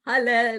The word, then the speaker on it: Haleh: The way it's pronounced is Haleh, like hallelujah.